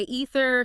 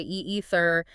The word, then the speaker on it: either: Oh yeah, some say ether, some say e-ether.